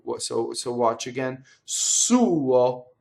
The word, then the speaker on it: suo: So possessive pronouns in Italian have usually have two syllables, right? The second syllable is really a semivowel, so you'll see it written over 1 note. You actually have to make 2 notes, right? The U is longer than the O, so watch again.